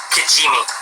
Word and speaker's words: Kijimi: Kijimi. Yes, it is. Not an easy one to spell, but you nailed the pronunciation.